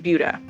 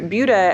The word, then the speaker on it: Buda: If you're like some people, you hear Buda and you think Buddha, whose teachings eventually were turned into Buddhism, but Buda was not named for him. And in fact, the pronunciation is different.